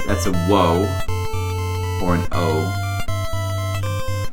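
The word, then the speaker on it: を: That's an That's a Wo or an O. It's pronounced O, but it's the WO.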